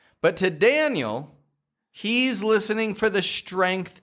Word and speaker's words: Daniel: The key here is that you're not going Daniel, Daniel, but that you're slowing the sound down. You're projecting your voice clearly from your belly, and you're making this transitionary movement. Dan, Dan, which creates the American twang sound.